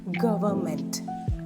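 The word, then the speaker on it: government: ഇഎൻ ടി ഗവൺമെന്റ് അല്ല ആറ് sound silent ആണ് ഗവൺമെന്റ് ഗവൺമെന്റ് stress on ദഫസ്റ് first സിലബിൾആണ് മൂന്ന് സിലബിൾ ഉണ്ട് ആദ്യത്തെ സിലബിൾ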